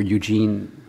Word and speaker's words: Eugen: Of course, it's the references to peasants into Frenchmen by Eugen, or Eugene Weber, as he pronounced him, called himself because he was American.